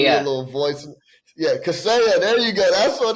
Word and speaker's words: Kaseya: Send me the pronunciation. Kaseya. Send me a little voice. Yeah, Kaseya.